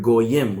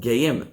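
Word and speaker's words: גוים: The written word in all the texts is spelled Geim, as if he said there are two great men inside of you, right? But not only is it pronounced Goyim, but the parallel phrase is Shnei Goyim bevitnech.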